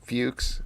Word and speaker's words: Fuchs: which is the marry jyn which is the fuches I hope I'm pronouncing your name correctly you are you are